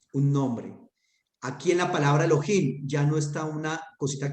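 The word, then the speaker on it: אֱלֹהִים: Ahí indica que esa palabra lleva el acento allí. Elohim.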